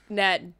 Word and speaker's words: Gnat: Haman's like, you are a Gnat, and Mordecai's like, it's actually Nat, the G is silent.